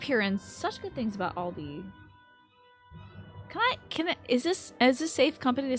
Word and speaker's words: Aldi: Saying Aldi's is Midwest. It's pronounced Aldi everywhere else.